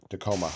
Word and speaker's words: Tacoma: for Tacoma Tacoma Station is that how you pronounce it Tacoma yeah Tacoma it says I'm going